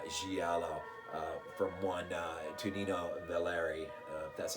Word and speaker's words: Tonino Valerii: well done uh giallo uh from one uh to nino valeri that's how you say his name from 1972.